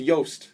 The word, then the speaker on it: Jost: we we pronounce it yast just like it's yogging it is a soft J I know I'm making